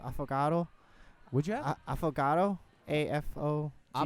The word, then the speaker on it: affogato: I think it's pronounced affogato.